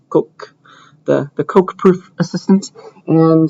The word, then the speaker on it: Coq: It was invented by French people, so I think it's pronounced Coq, the Coq proof assistant.